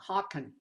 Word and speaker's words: Haken: Haken, Haken.